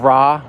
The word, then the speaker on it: Ra: son of the son son of ra or son of rey depending on how you want to pronounce it um the egyptologists